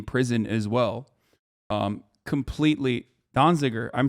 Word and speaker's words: Donziger: 45 days in prison as well um completely donziger i'm saying it right okay everybody shut up